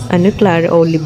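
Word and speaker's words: Clara Olé: Clara olive ang bigkas dyan.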